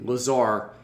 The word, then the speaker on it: Lazarre: It's Lazarre. Lazarre, as in, what? Give me a word like that would. Bizarre. Bizarre. So like strange. Yeah, take off the BI and add a LA, you got the pronunciation.